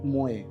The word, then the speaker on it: Mooi: तो best website according to me, there is a brand call मोए. Okay, it's an interior related brand. Okay, so let me spell it.